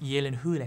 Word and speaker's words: Gyllenhaal: once and for all is it pronounced Gyllenhaal yeah or Gyllenhaal it's pronounced Yi Lin hoola hey yelling hoola hey